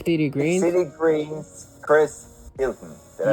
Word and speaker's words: Chris Houghton: Big City Greens, Chris Hilton. Did I pronounce that right? Yes, Chris Houghton or Houghton, but yeah.